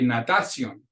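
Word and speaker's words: natación: time we have exceptions all words that end in i o n in Spanish have an accent on the o because that is breaking the rule if it ends in an N it should be natacion but it's not it's not that so we break the rule of ending in an end by putting the accent on the o to make it stressed on the last syllable if you say papa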